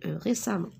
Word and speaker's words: récemment: resam les samo alors regardez je prononce à mais j'écris récemment je n'ai pas suffisant